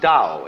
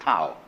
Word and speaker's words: dao: That's pronounced dao. If it had an apostrophe after it, it would be pronounced tao.